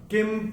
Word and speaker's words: किं: पहले चरण में क के ऊपर अनुस्वार के बाद का अक्षर है प, और अनुस्वार के बाद जब प आएगा तो अनुस्वार का उच्चारण होगा म।